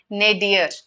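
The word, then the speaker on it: nadir: The word for that is nadier. This is how it is pronounced. Nadier.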